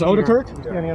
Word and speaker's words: Odekirk: It is Odekirk? Is that how it's pronounced? That's correct.